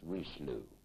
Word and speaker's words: Richelieu: either, so he was Mr. Richelieu, which I believe we were told to pronounce Richelieu. Mm-hmm. It's a good American pronunciation.